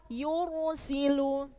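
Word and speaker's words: يرسل: tipis sama yang kedua yursilu ro sukun didahului harakat dum dumba maka bacanya harus tebal yursilu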